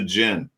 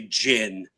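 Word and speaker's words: GHIN: Well, we call it GIN because nobody tells me how to pronounce an acronym. It's the only only word that starts with a gh. That's They want us to say jin.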